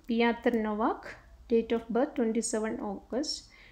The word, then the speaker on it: Piotr Nowak: Piotr Nowak, that is a Polish name, that's why it's like pronounced like that, Piotr Nowak, is moving to another nursing home to be nearer to family.